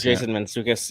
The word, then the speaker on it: Mantzoukas: Mantzoukas, yes, Jason Mantzoukas.